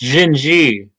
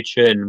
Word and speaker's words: Xin-xi: Oh goodness, Xin-xi. Some people desperately want me to say Chin, but I refuse.